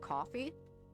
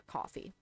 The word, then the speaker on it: Ko-fi: let's use that so there's a website that i suppose is pronounced coffee but it's a website